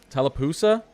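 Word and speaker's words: Tallapoosa: So we're looking at like Tala Talapusa, that's how you pronounce it.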